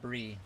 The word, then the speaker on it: Bry: Your name is spelt like B-R-Y, but it's said Brie.